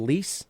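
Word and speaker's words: Lisse: Um, so they live kind of like it's called Lease is how you but it's not spelled like that, but that's how they pronounce them.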